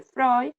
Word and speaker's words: Freud: se llama Sigmund Freud, se escribe Freud, pero se dice Freud, y el psicoanálisis es una rama de la psicología que fue fundada por él.